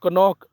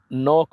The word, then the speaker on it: knock: और कनॉक नहीं बोलना है बल्कि नॉक बोलना है, KNOCK।